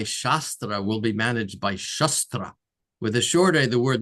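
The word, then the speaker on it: śāstra: Sanskrit library of texts shastra text scriptures. There's two words in Sanskrit shastra and shastra. Shastra with a long a with there's a line over the a shastra refers to wisdom teachings.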